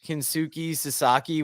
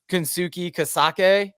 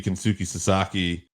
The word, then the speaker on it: Kensuke Sasaki: the ref is, and we find out it's Kensuke Sasaki, which I love Teddy Long's pronunciation of it because it's Kensuke Kasake.